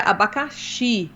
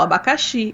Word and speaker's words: abacaxi: não entendia que era abacaxi né com a sílaba tônica na final abacaxi ele falava abacaxi abacaxi